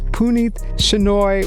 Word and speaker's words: Puneeth Shenoy: which, by the way, I've been pronouncing Puneeth's name wrong this entire time, and he has failed to tell me that, and we've been working together for years. So it's Puneeth Shenoy with the Podcast Pundits.